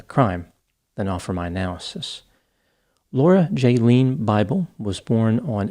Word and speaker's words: Lauria: Laura Jaylene Bible was born on April 18, 1983, and grew up in Welch, Oklahoma. Her name was spelled Lauria, but it is pronounced Laura.